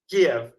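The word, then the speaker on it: Kyiv: I saying it wrong Kev right you know the old way of saying it was give and now the new modern Ukrainian way is ke and I go back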